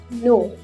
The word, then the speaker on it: know: its correct pronunciation too next words are no k n o w no k n i f e nine k has to be silent here would remember l